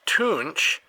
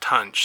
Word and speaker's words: Tunch: on the back here it says tunch pronounced toonch however everything i've heard from him and even some interviews with him it's always been pronounced tunch so i don't know if flear got it wrong or if tons just finally decided to stop correcting people and just went with it but anyway unfortunately yesterday